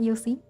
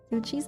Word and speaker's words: Yocci: I've been saying her name wrong for like weeks. It's Yocci, not Yossi. Yocci's anatomy is amazing, and that is helping me so much with the sketch.